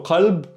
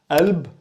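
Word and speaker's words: قلب: Yeah, so qalb, heart, kalb, dog. Why this is a little bit confusing? Because qalb in dialect can be pronounced alb or galb, and in certain places,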